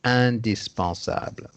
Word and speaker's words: indispensable: C'est écrit de la même façon, mais c'est prononcé indispensable.